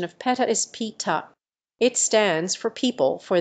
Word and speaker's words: PETA: no Peta is not pronounced as Peter the correct pronunciation of PETA is pita it stands for people for the ethical treatment